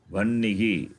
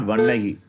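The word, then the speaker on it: वह्निः: Either you do that, otherwise you say, you pronounce nakara first, followed by hakara. Vannihi. Simple, it's not difficult. Yeah. Not vannahi.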